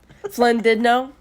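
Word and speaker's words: Llandudno: Flynn did know. Flynn did know is spelled with two L's. Why did two L's make an F sound?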